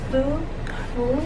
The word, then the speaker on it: 福: It's a word like food. That's how you pronounce it in Chinese.